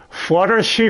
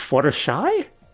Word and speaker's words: Fluttershy: this on dubster hi flutters she from My Little Pony friendship is Magic well see you said the name wrong so you're going to get the bronies mad it's Fluttershy yeah I just one